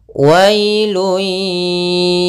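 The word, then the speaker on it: ويل: Kemudian ayat yang selanjutnya, wailun yawma idzil lil mukazzibin. Pada lafal wailun, wailun di sini ada bacaan lin, yaitu pada lafal wa ketemu dengan huruf ya sukun, maka dia lembut dalam pelafalannya. Wailun ya.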